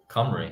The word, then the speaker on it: Cymru: An You anagram, know, an anagram of Cymru is mercy as well.